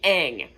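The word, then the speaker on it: Aang: you pronounce it a just because you write a a n g does not make that ang it's can still be ang so it switches from ong to ang soka or saka to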